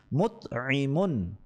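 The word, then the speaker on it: مُطْعِمٌ: আইন কালেমায় আইন রয়েছে এবং লাম কালেমায় মিম রয়েছে, তাহলে আইন কালেমায় হবে জের এবং লাম কালেমায় হবে তানবিন, দুই পেশ। তো উচ্চারণটি হবে মুতঈমুন।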